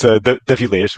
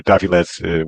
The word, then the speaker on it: d'Avillez: your name name right close enough it's Dees or Daves would be okay so Mr deas